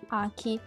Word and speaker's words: 秋: Ora vi faccio vedere le pronunce. Allora, quello con yomi appunto è Aki, che si scrive così.